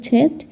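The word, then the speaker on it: Zett: করে থাকি তারপর আছে ছেট ছেট হচ্ছে ছেটের ছেটের উচ্চারণ ছয় এর মত হবে এটা লিখেছিলাম কিনা এই ছেট ছেটের উচ্চারণ আপনারা সবসময় ছ এর মত উচ্চারণ করবেন ছেট মানে হচ্ছে ছয়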